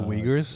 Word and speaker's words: Uyghurs: The Uyghurs. The Uyghurs? Is that how you pronounce that word?